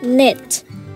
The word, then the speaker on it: knit: E okay how about knit the silent letter is K okay and yeah and